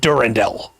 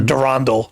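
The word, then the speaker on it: Durendal: than he is called durandell or darondle depending on your pronunciation uh and aromatol died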